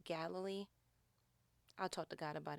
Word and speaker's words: Galilee: That is spelled Galilee. Looks a lot like Galilee, but it's actually Galilee.